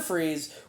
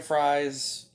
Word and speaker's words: Fries: But yeah, again, the famous story, Victor Fries, well, no, his name is Victor Freeze, it's spelled like fries.